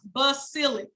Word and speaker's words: basilic: cephalic vein second vein of choice basilic it's pronounced basilic b-a-s-i-l-i-c bang that's the third game of choice